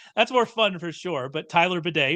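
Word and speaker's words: Badie: Tyler uh which I've now figured out is pronounced Beday I always called him Tyler baddy um which I like more because that's more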